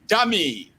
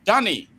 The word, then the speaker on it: Danny: Then Dami. Did I pronounce that or Danny? Rather, Danny. That's Daniel, by the way.